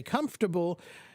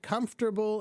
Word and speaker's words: comfortable: one pronunciation probably okay comfortable there are two ways that people will say it okay comfortable and comfortable okay they're both fine okay one is comfortable comfortable three syllables and the other one is comfortable